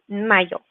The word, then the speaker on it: mayo: and then we have the month of mayo, mayo, or maybe you pronounce it mayo, maybe a little bit of a harder sound. So it just depends on the different accents about how you're going to pronounce this for mayo or mayo or mayo.